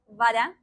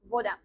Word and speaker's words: вода: So we say voda instead of voda. I want to mention that saying voda is not a mistake at all.